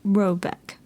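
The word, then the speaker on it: Råbäck: The mana house or hairard in question is to be called rabac pronounced something like robeck though that is not its name.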